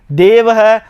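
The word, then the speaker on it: देवः: विसर्ग लगा हुआ है तो अब उसका उच्चारण हम किस प्रकार से करेंगे रामः इस प्रकार से उसका उच्चारण करेंगे देवह तो देवह गुरु गुरुह इस प्रकार से इसका उच्चारण करेंगे और इसे क्या नाम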